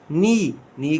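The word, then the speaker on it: knee: आई सा a butterfly around me, it landed on माई नी का के साइलेंट है।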